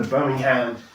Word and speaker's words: Birmingham: And he read to Father Martin Luther King Jr.'s letter from the Birmingham, that's how they say it in America, the Birmingham jail.